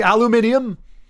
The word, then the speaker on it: aluminium: way to pronounce it, the folks across the pond will like aluminium. It's like I look at aluminum like there's only one way to say that. It's like no no it's aluminium chap.